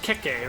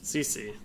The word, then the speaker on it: CC: It's not Keke, right? Like it's gonna have to be CC.